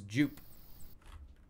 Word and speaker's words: Jupe: Is it Jupe or Jup? It is Jupe. Because it's short for Jupiter. So it is Jupe.